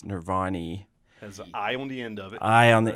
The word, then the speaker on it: Nirvani: our name is pronounced nirvani right case nobody knows that it's nirvanni has an eye on the end of it i on the end of it and we are a